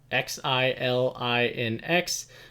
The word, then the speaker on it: Xilinx: going to be ramped or rolled together into XILINX. I may mispronounce this, but I believe it's Xilinx, and this is an acquisition that they'll be going through.